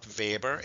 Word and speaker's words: Weber: The vber test, remember I said you even though it it's spelled vber, it's pronounced I mean it's spelled Weber like in the I don't know if you guys have Weber bri here in South Africa.